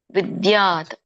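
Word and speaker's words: ವಿದ್ಯಾತ್: ಯೋಗ ಸನ್ನಿತಂ ಇಲ್ಲಿ ಇಲ್ಲಿ ಇದರ ಒಂದು ಉಚ್ಚಾರಣೆ ತಂ ವಿದ್ಯಾತ ಇಲ್ಲಿ ವಿದ್ಯಾತ ಅಂದಾಗ ವಿದ್ಯಾತ ಅಂತ ಬರುತ್ತೆ ನೀನು ತಿಳಿಬೇಕು ಅಂತ ಹೇಳಿ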